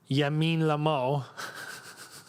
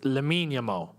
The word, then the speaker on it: Lamine Yamal: Ball to Yamin Lamal. It's Lamine Yamal. Nah, the L isn't silent because Lamine is not a Spanish name.